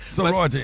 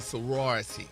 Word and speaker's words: sorority: Sority Incorporated. Say it right, Gary. We don't want to get beat up. Yeah. The sorority incorporated.